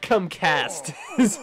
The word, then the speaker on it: CUmkAsP: Oh, yeah, CUmkAsP, but the P is silent. CUmkAsP.